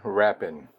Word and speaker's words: Rappen: It's a Swiss coin, and it's called 20 Rappen, R-A-P-P-E-N, I believe it was.